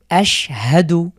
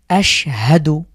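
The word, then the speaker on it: أَشْهَدُ: তো এই শিনের উপরে যে সুকুন আছে এই জন্য আমরা পূর্বের হরকতের সাথে মিলিয়ে পড়ছি আশহাদু।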